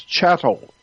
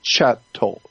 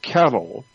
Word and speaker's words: chattel: street, they call us chattel. Look that word up in a dictionary. It's spelled C-H-A-T-T, chattel. Not cattle, like a bull, but chattel.